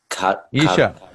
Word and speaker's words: Isha: Isha.